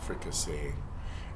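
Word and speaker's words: fricassée: And then you have to add the extra E for the feminine, oy, but you don't pronounce it.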